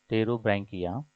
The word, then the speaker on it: Pterobranchia: The second class is Pterobranchia. The P is silent here. Pterobranchia.